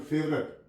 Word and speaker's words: favourite: For example फेवरेट, FAVOURITE, यहाँ पे ओ silent है।